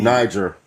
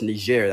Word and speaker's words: Niger: Mali, Niger, uh, no, it's Nijer. That's how it's pronounced.